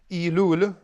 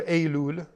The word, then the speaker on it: Elul: Elul, or Elul, pronounced either way, September.